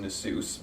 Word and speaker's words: Nasus: I mean, if I'm playing Gnosis in League of Legends, which is actually supposed to be pronounced Nasus, but I keep getting mocked every time I say that, and I do /Joe.